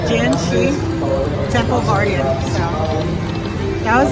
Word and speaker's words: Jin Shi: I wasn't sure I pronounced the game right. It's called Genshi Temple Guardian.